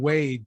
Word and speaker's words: Wade: It's not that hard. It's one syllable. I think because I say Brad and Wade too close together, it's Wad.